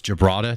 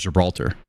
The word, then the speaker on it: Gibraltar: Gibraltar, am I saying it wrong? It's Gibraltar. Thank you. I thought it was Gibraltar.